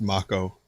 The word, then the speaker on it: Mako: It's pronounced Mako.